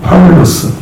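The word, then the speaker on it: Παῦλος: 바울이라는 사람, 헬라어로 파울로스 이렇게 있죠. 영어로는 폴 이렇게 있습니다. 그러니까 좀 발음이 많이 바뀌었죠. 근데 한국어는 바울 이렇게 있습니다. 파울까지는 이제 바울로 바뀐 거죠. 파울로스 뒷자는 빼고.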